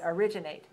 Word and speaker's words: originate: words I gave you, most of them are stressed on the second syllable. Original, originally, originate.